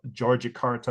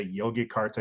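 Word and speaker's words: Yogyakarta: important kingdoms were in the city of georgic Carta or I say Yogi Carta because that's how it's spelled but it's georgic Carta they call it Georgie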